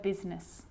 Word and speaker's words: business: is not usually silent it's usually pronounced except in the word business okay okay now I